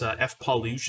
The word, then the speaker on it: FPAWLUSC: by I think it's F Palush is how you say it, FPAWLUSC on Twitch.